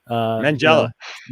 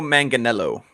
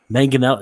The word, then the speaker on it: Manganiello: and I'm going to mangle his last name, Mangella. He made Joe. He was throwing a little bit of hints out there that maybe we'll see he and the Batfleck together. It's actually pronounced Joe Manganiello. Manganiello, yeah.